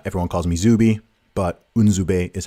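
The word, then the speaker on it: Nzube: it so uh everyone calls me zubi but unzubai is how you pronounce my my proper my proper name and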